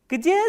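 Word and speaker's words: где: And the third interrogative word is g, d, ye, and please remember ye is a soft vowel and it comes after a soft consonant. So, how will you pronounce this? Gdje. Gdje is where.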